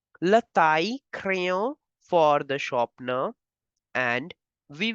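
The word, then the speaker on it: le taille-crayon: Now again, the two L are between I and E, so you will pronounce it as le taille crayon. The sound of two L will change to Y. Le taille crayon for the sharpener, and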